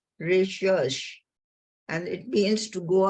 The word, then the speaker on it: recherche: Research was first known in the French language in 1577. They pronounce it recherche, and it means to go about seeking.